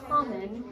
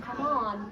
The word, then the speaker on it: common: So common, not come on, right? Common has that in, right? Okay, so that's why it doesn't always follow the rules.